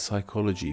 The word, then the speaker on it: psychology: In English, we don't start words with these clusters of consonants, so when we took these words into our own language, we simply kept the spelling but didn't bother pronouncing the first letters.